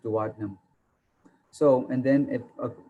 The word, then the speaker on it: duodenum: some people call it duodenum but it's called pronounced duodenum so and then it of course it continues